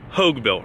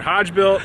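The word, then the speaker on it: Hogebuilt: who don't know uh it can get pronounced many different ways but it is hogue built right correct yeah we've heard hodge built uh hogue built it's like hope like hoagie or like hulk hogan hogue yeah exactly hoagy sandwich a lot of people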